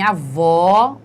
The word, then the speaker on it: avó: lá avó E então em avó o som é aberto entretanto em avô o som é fechado certo então só para